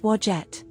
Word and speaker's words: Wadjet: Her name is pronounced Wajette.